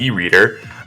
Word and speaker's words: Iridae: actually pronouncing this but i believe iridae is the way to say it um we might even affectionately call them as e-reader um they're the only